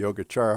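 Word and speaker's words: Yogācāra: of the yogacara tradition and this c is pronounced ch even though it's only written with the c oops what am i doing here so the most important member of the yogachara movement was asanga who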